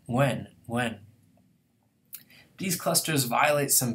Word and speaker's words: Nguyen: And then the very common Vietnamese word nguyen doesn't seem like it's that hard, but we're not used to pronouncing a nga at the beginning of a word, nguyen, nguyen.